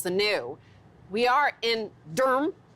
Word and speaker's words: Durham: We are in Durham, D-U-R-M, as they pronounce it here.